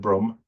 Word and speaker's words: Brum: Oh, you call it Brum.